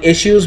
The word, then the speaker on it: issue: okay by the way the in the British pronunciation of this word is actually issues okay whereas in the u.s. and India we mostly say issue with the H SH okay but actually the classical British pronunciation has issues there is no H in that okay so anyway so